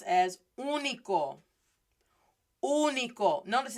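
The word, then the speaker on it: único: this is pronounced as unico unico notice it's still the oh it's not a short vowel or anything but with that accent i just stress it more i emphasize it more uniquo and so i want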